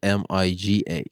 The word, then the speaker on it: MIGA: Chicago M I G A Miga.